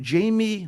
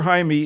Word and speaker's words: Jaime: uh when young Jamie or Jaime Jaime Reyes we'll call him Jaime let's get the pronunciation proper here Jaime Reyes it looks like Jamie a Mexican-American teenager bonded